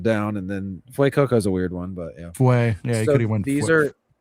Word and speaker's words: Fuecoco: Fucoco, Almost. Fuecoco, Yes. You got it on the second one.